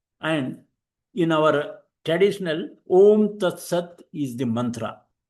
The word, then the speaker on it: Aum: So, Om Tat Sat is one of the great truths of the Hindus. The word Aum, pronounced as Om, is used at the